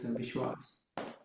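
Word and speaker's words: विश्वास: So for this one I have the va, vi, half sh, va with a, and then Vishwas.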